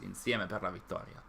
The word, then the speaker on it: insieme per la vittoria: Yes, insieme per la vittoria. This is the actual pronunciation, not the super heavy one.